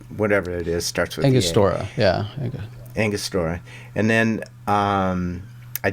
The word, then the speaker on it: Angostura: down, melted it, dropped in my, I can't pronounce it. Is it Angalora's bitter or whatever it is? Starts with Angostura.